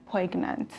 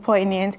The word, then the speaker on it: poignant: so and you know this word many people pronounce it as pregnant so sounds like pregnant wow so today you guys know that it's not pronounced pegnant but it's pronounced poignant and the first sentence is the photograph the